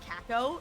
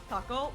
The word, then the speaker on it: Kako: I love that in English they're pronouncing it Kako. It's Kako, but yeah.